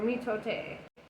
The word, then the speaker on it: mitote: which the toltecs called a mitot oh mitote i love that they added the pronunciation there you talked your